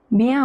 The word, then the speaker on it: bien: Bien manger. Remember this combination IEN is always pronounced as IAN. AN is pronounced as on. ER at the end of a verb is pronounced as A, always.